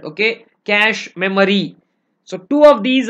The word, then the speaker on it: cache: then it's pronounced as Cas just like how you pronounce cache see I said that's what it is pronounced don't use funny names like catchy catch and all that okay cash memory so two of